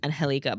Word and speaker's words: Angelica: Um, I think her name is pronounced Anhelica, but I am going to say How do you know that?